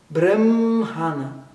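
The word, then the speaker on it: बृंहण: ele for rindizado, mas a pronúncia certa com um R com um pontinho embaixo é brum, brum, brumhana.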